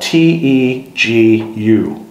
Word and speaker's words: tegu: Now, tegu is spelled T-E-G-U.